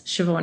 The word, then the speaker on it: Shevaun: means but I do know that ever since shoban has become more common as a name in